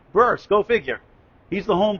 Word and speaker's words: Bearce: The manager Skita Bur is pronounced. B E A R C E. Burst.